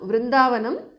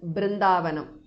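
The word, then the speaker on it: वृन्दावनम्: Now Vrindavanam, the alternate pronunciation is Brindavanam.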